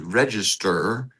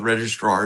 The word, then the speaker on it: register: As a part of that, underneath the Library of Congress is the register, and that's the correct pronunciation of that word. It's not the registrar, it's the register of copyrights.